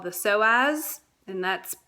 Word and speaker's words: psoas: So you have a muscle in your core called the psoas, and that's psoas. So it starts with a P. The P is silent.